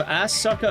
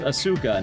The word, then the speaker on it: Asuka: cuz you have Assucka and Ray, which I'm pretty sure it's pronounced Asuka, not As Sucka, but I know it's kind of funny to call her assa.